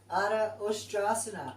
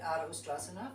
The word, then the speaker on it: Ardha Ustrasana: Is it an ush or is it a s? Well, it's pronounced sh. So let's go with that. I've always said it Ardha Ustrasana for years without the sh.